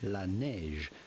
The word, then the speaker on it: Laneige: The name comes from French La Neige, which translates into the snow.